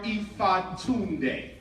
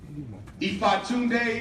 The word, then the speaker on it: Ifatunde: Umar Ifatunde. Ifatunde is a Yoruba name that was given to